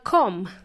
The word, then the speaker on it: comb: spelled C OMB and the letter B is silent so it also has